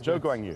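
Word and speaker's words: 周冠宇: I think Zhou Guanyu is Zhou Guanyu, because that's the way we pronounce it in China.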